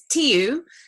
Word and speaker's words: Tu: nobody knows how to say it, but it's Tu, and the surname is.